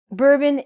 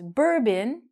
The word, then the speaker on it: bourbon: Bourbon is a kind of whiskey, and we don't say bourbon, we say bourbon.